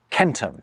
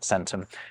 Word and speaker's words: centum: Take all these different words for “hundred” across the Indo-European languages: hundred, “centum” - yes, it’s kentum, not sentum - “hekaton”, “sto” and “shatam”.